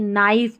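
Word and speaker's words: knife: के एन के एन को न पढ़ते हैं क्योंकि के यहां पर साइलेंट होता है। ठीक है? जैसे यहां पर देखिए नाइफ पढ़ा इसको। ठीक है? के साइलेंट है।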